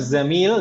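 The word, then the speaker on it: زميل: jangan sampai salah ya ini pengucapannya zaitu pakai jangan pakai gym jadi nanti jangan sampai tertukar zamil dan Jamil beda artinya nih meskipun biasanya itu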